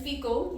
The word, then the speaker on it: Phicol: At that time, Abimelech and Phicol, yes, that's how you pronounce his name, the commander of his army, said to Abraham, God is with you in all that you do.